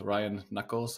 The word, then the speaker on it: Ryan Nuckolls: digital infrastructure group Ryan how did I pronounce your name how are you doing really good Jesse thanks for having me on the show today glad to uh glad to be here ran Knuckles you pronounced it just right perfect you want to